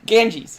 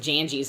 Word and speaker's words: Ganges: Of the what? Ganges. Okay, I thought you said Janjies, and I was gonna slap you.